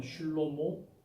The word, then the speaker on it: 슐로모: 자, 그래서 이제 솔로몬이라는 말은 헬라식 발음이고요. 히브리식 발음은 슐로모.